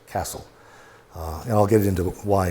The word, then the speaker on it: Cassell: And his name was Dave Cassell, Cassell, but he pronounced it Castle.